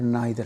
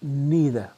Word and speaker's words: neither: तो मैं आपको ये क्लैरिफाई कर दूं कि ब्रिटिश प्रोनाउंसिएशन के अंदर इसको आप आइदर पढ़ेंगे और नाइदर पढ़ेंगे, और अमेरिकन प्रोनाउंसिएशन के अंदर आप इसको ईदर और नीदर पढ़ेंगे।